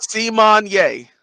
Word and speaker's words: Symoné: See-Mon-Yay. Yeah, See-Mon-Yay. It's never gonna happen. And the problem is that like it's spelled Simone.